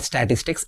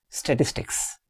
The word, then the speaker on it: statistics: Very interestingly, it is not statistics. It's incorrect. It is statistics. Statistics. It is having three syllables.